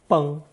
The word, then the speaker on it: 崩: Pronounced first tone, 崩.